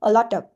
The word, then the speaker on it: a lot of: So we pronounce the T like a d quick a quick d. So a lot of a lot of a lot of next one we have get off.